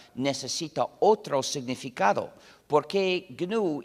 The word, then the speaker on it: GNU: Se escribe GNU, se pronuncia en inglés GNU.